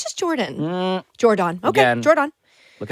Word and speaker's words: Jordon: I think it's just Jordan. Jordon. Okay, Again, Jordon. Look at how it's spelled.